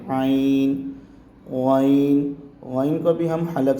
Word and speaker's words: عین: طرح ادا کریں گے۔ عین کو ہم حلق سے نکالیں گے، جیسے ہم نے ہا کا تلفظ کیا تھا اسی طرح ہم عین کا کریں گے۔ عین۔ غین کو بھی ہم